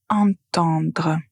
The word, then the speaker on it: entendre: la même façon mais la première syllabe est différente. Attendre. Attendre. Donc vous avez la lettre à tendre. Pour entendre vous avez la nasale.